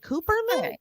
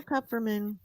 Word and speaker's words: Kupferman: Whereas Kupferman, at least people give it a college try. They're like, Cooperman? Cooperman? I'm like, no, Kupferman.